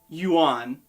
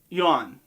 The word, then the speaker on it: yuan: is the currency here that word is one syllable so it's not yuan it's yawn it's difficult i don't